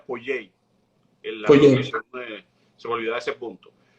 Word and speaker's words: Poyais: Yo estoy pronunciando Pollais porque es como se escribe, pero realmente sería Pollei.